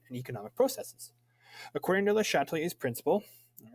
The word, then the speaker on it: Le Chatelier: the chatelier's principle um this is a french name so make sure to have that french french pronunciation it's not the chat tell yours it's le chatelier um so we're talking